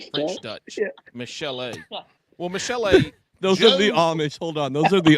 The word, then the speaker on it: Michele: Because it's only got one L in it, and I thought it was Michele instead of Michelle. It's spelled the French way.